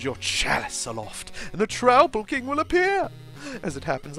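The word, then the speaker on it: Troupple King: All hail the Trouble King! What? You've never heard of the Trouble King? Half trout and half apple, pronounced like mouthful.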